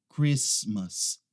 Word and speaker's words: Christmas: Christmas. Essa aqui não é Christmas. A gente não pronuncia aquele T ali, tá? É Christmas. Christmas.